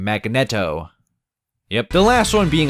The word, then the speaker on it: Magneto: Magneto yep that's how you say his name Magneto yep the last one being Akuma right off